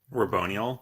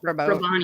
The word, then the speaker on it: Raboniel: I would have loved if there was more like interpersonal stuff with Navani and how do we pronounce her name? Raboniel. Raboniel.